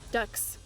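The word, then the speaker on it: dux: pupil in a school or class huh it's pronounced ducks oh it actually is Browns ducks ducks I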